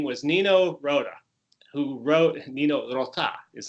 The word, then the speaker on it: Nino Rota: Another good thing that came was Nino Rota, who wrote, Nino Rota is how I'm supposed to pronounce it. I Rota, like an American. But Nino Rota is how the Italians would pronounce it.